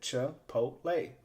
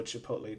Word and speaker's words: Chipotle: to pronounce is Chipotle and that's how you pronounce it Chipotle by the way and here they just have a list of some of the ingredients that they use so Chipotle chili corn M oflow white cheddar cheese cultures